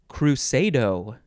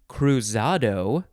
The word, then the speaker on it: cruzado: a noun next is crusado crusado it could also be cruzado or krusadu is that what it's telling me krusadu uh that one uh crusado cruzado is spelled with a z noun from 1542 an